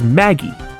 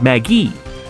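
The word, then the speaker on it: Maggey: After all, the defendant's name is Maggie. Was Maggie. I didn't enunciate the E at the end. Like, I really gotta make that E pronounced.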